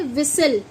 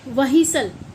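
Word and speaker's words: whistle: इसमें डब्ल्यू एच है लेकिन हम इसे क्या बोल लेंगे? विसल क्या बोलते हैं? विसल। ठीक है? विसल ना कि व्हीसल। ऐसा कुछ नहीं बोला जाता। तो एच साइलेंट होता है बच्चों। तो डब्ल्यू के बाद मोस्टली एच जब आता है तो एच साइलेंट हो जाता है।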